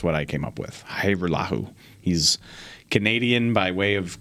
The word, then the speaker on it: Hajrullahu: It's Liram Hajrullahu. There you go. Hajrullahu. Hajrullahu. Okay, so the J is silent.